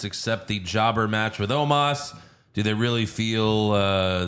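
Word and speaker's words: Omos: funny about it's uh even bronze pronouncing because it's Omas it's Omas but he like bronze said like omis homeless oh bless bring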